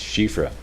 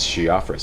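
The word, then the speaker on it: Siofra: rather than shifra apparently in traditional Irish it's pronounced shifra but I asked everybody how do you pronounce this and everybody said it's she offers so I went with shiafra but um I've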